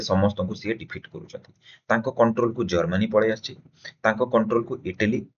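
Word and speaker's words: Tsar: USSR রাজা থিলা জার টিরে লেখা যায় কিন্তু উচ্চারণ করা যায় জার নেপোলিয়ন এটি নেপোলিয়ন নেপোলিয়ন এবং জারিটি সাইন সাইড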